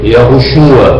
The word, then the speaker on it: Yahushua: Mas a pronúncia clássica verdadeira é Yahushua para o Filho, Yahu para o Pai.